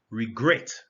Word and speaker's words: regret: you pronounce that word regret notice the stress is on the second syllable the first syllable is not stressed so it's regret in